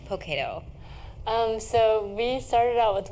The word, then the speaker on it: Poketo: And my grandmother raised me, actually, so I'm really close to my grandmother, and she would always say Poketo instead of pocket. And it's our mispronunciation of pocket, so that's where it came from.